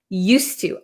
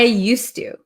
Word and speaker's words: used to: sound it's going to be an S sound used to I used to okay then here be used to be used